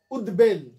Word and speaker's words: উদ্বেল: উদ্বেল, দুটো সিলেবল, উদ্বেল, এই যে দেখো উদ্বেল, উদ দয় হর্ষ হলো, উদ্বেল দুটো অক্ষর।